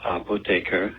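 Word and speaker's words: Apotheker: course of HP Fame uh the name is pronounced apotre in Germany which means pharmacist so here's another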